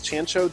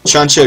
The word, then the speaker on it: Choncho: cop cat posy selects chancho jump I conratulations I Adore choncho if I might correct you on the pronunciation choncho JP uh was a